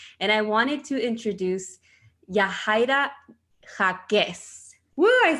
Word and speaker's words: Yahaira Jacquez: You guys know we always have mujerones on the podcast, and I wanted to introduce Yahaira Jacquez.